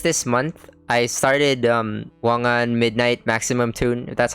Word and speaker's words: Wangan Midnight Maximum Tune: like also just this month I started um wangan midnight maximum tune that's how you pronounce it um it's a racing game at